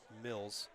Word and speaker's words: Miles: Tyler Mills into the game, or Miles. PA announcer said Mills. Spelled like Miles.